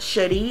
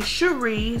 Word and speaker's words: Cherie: It's pronounced Cherie, which is French, but everybody say Cherie, so alicecherie is my name.